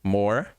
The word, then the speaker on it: more: More, o E também não é pronunciado.